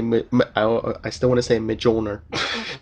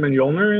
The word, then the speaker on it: Mjolnir: Because I think everyone pronounced it Mjolnir because it's spelled with a J. That's how you pronounce a J, is a J.